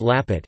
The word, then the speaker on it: lapet: Lampet or Lapet, pronounced Lapet, is a typical and traditional Batak snack from Tapanuli, North Sumatra, Indonesia.